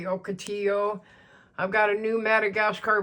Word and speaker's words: Ocotillo: That's my Ocotillo, which is really, if you pronounce it correctly, Ocotillo.